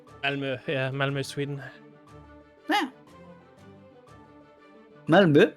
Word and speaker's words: Malmö: Oh yeah, the double point in the O makes it longer, right? Yeah, it's like the cross used to say U.